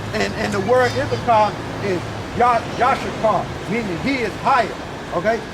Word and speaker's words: Issachar: So Yashakar, okay, Issachar is how you say it in English, but Yashakar in the Hebrew meaning he is higher.